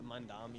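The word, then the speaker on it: Mamdani: Yeah, Mandami. Mandami.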